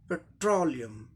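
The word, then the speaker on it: petroleum: ठीक उसके पहले सिलेबल ट्रो, ट्रो, ट्रो, इस पे जोड़ देना ट्रो, लास्ट पार्ट के ठीक पहले ट्रो। तो इसका उच्चारण क्या हो जाएगा? पेट्रोलियम, पेट्रोलियम, पेट्रोलियम, है ना, पेट्रोलियम।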